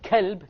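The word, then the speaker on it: كلب: From, if you change to a kaf, you become from a heart to a dog, right? Qalb means what? Heart. And kalb means dog. So if you mispronounce these letters, you're going to change the entire meaning.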